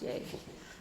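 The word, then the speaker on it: Yei: It says it's pronounced Yay.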